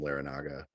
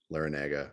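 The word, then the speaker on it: Larrañaga: at miami under jim larranaga lara naga i can never say his name right long a yeah okay so so anyway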